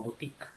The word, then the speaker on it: boutique: Esto de acá se pronuncia como boutique. Pero ahí no vas a decir que es diptongo. Porque tú te das cuenta que ahí acá no se pronuncia la O y la U. Oye, no puedo subrayar. Bueno, no se pronuncian ahí las dos.